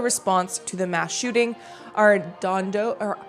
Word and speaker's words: Arredondo: Arredondo, or how do you say that name? Arredondo?